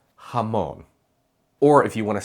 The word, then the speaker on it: jamón: Both are correct, but here in the United States, the overwhelming majority of the time, you'll hear that softer, chill J. Some words that use J are jefe, joven, trabajar, jamón.